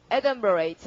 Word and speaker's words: adumbrate: 자, 그럼 20일 가시고 자, 강세가 앞이고요. 발음 어떻게? 에든버레이트. 자, 여러분, 에든버레이트 강세 앞에서 열심히 하실 때까지 하고, 네, 엄브르가 이게 지금 우산이 아니라 그림자다, 그림자.